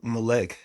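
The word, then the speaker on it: Mlech: So, you type in When We Ride, it' be Mlec. Um, it's spelled M L E C H.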